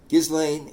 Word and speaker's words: Ghislaine: do you pronounce gizan gizan is pronounced with a hard G and a silent s if it helps the